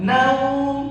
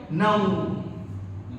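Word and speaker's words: نَوْم: Jadi jangan naum. Kalau kita baca naum, seakan-akan apa? Huruf nahyi kita panjangin. Seakan-akan huruf nahyi kita panjangin. Naum, ya kan? Jadi bacanya gimana? Naum. Begitu.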